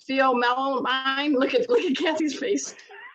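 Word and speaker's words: pheomelanin: It's Pheomelamine. Oh, yeah. Well, you're mispronouncing it badly. Okay, good. What is the right pronunciation? That's why I'm on a show, man. That's why I host. I don't know if I can say it right either. It's like phenylamine.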